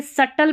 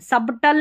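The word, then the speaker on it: subtle: यहाँ पर देखिए सटल पढ़ते हैं, सबटल नहीं पढ़ते, B साइलेंट है, ठीक है।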